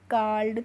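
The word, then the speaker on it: called: पढ़ेंगे इसको हम पढ़ेंगे काल्ड तो यहां पे भी देखिए ड आ रहा है ईडी का प्रोनंसिएशन उच्चारण ठीक है ऐसे ही है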